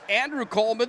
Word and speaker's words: Kohlman: There's Andrew Coleman, that's spelled Kohlman, the junior D-man, and Carter Coleman, Coleman, the sophomore forward for the Magi, not to be confused.